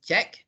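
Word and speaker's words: cheque: so the check uh it is pronounced as check so it is q-u-e okay uh last last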